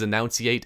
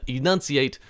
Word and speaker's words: enunciate: different than annunciate and everybody always says annunciate and they say it even worse than that they can't even pronounce an annunciate they can't say it that way even though that's the word they're trying to say but they're not at the same time they're trying to say enunciate I don't know it